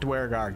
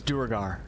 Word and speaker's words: duergar: the daring durgar and i'm saying durgar i'm done saying it the way that larian studios wants to say it i'm i'm duergar i'm not dwarguard get that crap out of here it's duergar okay one of a series